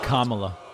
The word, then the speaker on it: Kamala: the biden harris how about harris kamala it's kamala kamala and you have to say her name